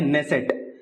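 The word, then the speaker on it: Knesset: याचं स्पेलिंग असं नाहीये इंग्लिश मध्ये के पासून स्पेलिंग ची सुरुवात होते नेसेट पण ते के हे सायलेंट आहे जसं नाईट रायडे ची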